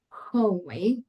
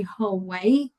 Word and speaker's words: hallway: I've heard people saying hallway like in a hole and I let's open a little bit the mouth to say whole way, right?